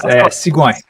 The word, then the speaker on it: Sigouin: So, ladies and gentlemen, we have on the show, and let me know if I'm pronouncing it correctly, Maxime Sigouin, is it correct? That's close, Sigouin.